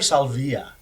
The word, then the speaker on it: Salvia: Is it Salvia or Salvia?